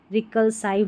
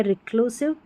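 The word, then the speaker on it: reclusive: रिकलसाइव नहीं पढ़ते हैं या रिक यहां पर रिक्लूसाइव भी नहीं पढ़ते हैं। यह है रिक्लूसिव।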